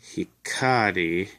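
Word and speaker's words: 光: And it's pronounced hikari.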